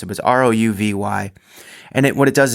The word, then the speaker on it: Rouvy: called I think it's a Rho V they pronounced it was ro uvy and it what it does is that mimics